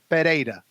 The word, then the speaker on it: Pereira: H if it is two r's in succession so they're both back to back two r's together then it becomes an H there is only one R in pereta so that's why it you pronounce that rolling R So It's tricky because